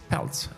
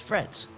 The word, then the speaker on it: Fretz: Wait, wait, before I do that, how did you pronounce my my surname? Peltz. It's Fretz.